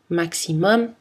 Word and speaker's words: maximum: empruntés par exemple ou latins on prononce le m maximum album aquarium par les mots étrangers